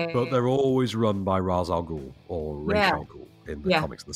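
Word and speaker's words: Ra's: Assassins yeah yeah but they're always run by razag or in the comics and the series and he's razing he's spelled Raz and he's called Raz in Nolan's movies he's R everywhere else and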